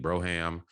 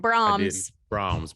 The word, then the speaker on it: Brahms: Nick Broham, he's out of this game. I think I said it right, but there's couple other. You didn't. Oh, I did. Brahms. Brahms.